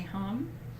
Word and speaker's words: ham: throat chakra is hum it's spelled like ham but don't say ham because it's not ham it's han you say hum and then um the